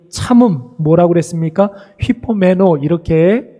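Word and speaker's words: ὑπομένω: 휘포메노, 이렇게 발음을 한다고 그랬는데 무엇 아래 거하다, 이런 뜻이라고 그랬어요.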